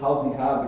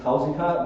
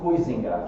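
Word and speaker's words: Huizinga: say it like this housing hub because it's a proper way to say it in croatia and in the world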